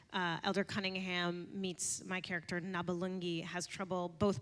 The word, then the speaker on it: Nabalungi: where Josh's character, Elder Cunningham, meets my character Nabalungi, has trouble both pronouncing it and remembering it, and what was it? Trey and Matt gave. There were scripted It names. actually just started off as Nababamba and like like you would just mispronounce it.